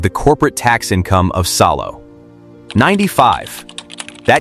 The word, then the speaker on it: Salo: Salo two syllables.